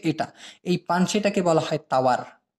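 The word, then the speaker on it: tawar: এই পানসেটাকে বলা হয় তাওয়ার, টাওয়ার না কিন্তু আবার, হ্যাঁ সেই টুইন টাওয়ার না, তাওয়ার, তাওয়ার। এই টি কে ওরা উচ্চারণ করে ত, ত তাওয়ার মানে পানসে।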